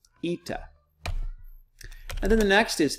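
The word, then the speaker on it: ήτα: Zita then the next looks like an H or an N but it is an east eita eita and then the next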